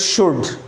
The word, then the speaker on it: should: L is mute here. L don't pronounce L but pronounce it should.